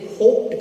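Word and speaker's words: hoped: अभी आप पढ़िए कि अगर कोई वर्ड पी से अंत करता हो, अगर उसमें ईडी जोड़िएगा तो उसका प्रोनाउंसिएशन ट हो जाता है। आप इसे क्या कहेगा, इसे होप्ड कहेगा। क्या कहेगा, इसे होप्ड। इसे प्रोनाउंस करके देखिए तो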